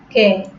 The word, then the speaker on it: কে: কে, কে, সে, সে, যে, যে, এটাকে আমরা কি বলছি না, কে বলতেছি না, সে বলতেছি না, আবার যে বলতেছি না, হ্যাঁ, সেটা হচ্ছে কে, সে, যে। তাহলে এই উচ্চারণগুলো কি কারণে হচ্ছে না? আমরা টেনে বলতেছি না, একটু টেনে বলতেছি না, একটু ভিন্নভাবে বলতেছি না, সরাসরি একারের মতোই উচ্চারণ করছি, কারণ এই কারণে এগুলো কি সম্বৃত উচ্চারণ।